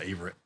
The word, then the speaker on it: Averette: Master Sergeant Averette. I've been pronouncing it Averette.